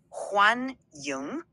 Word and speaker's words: 欢迎: It's pronounced like 欢迎, second word, Y-I-N-G.